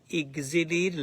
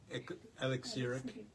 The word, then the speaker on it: elixir: the enjoyment of the exill like am I correct pronunciation exil e x it's not a common word elixir alex e l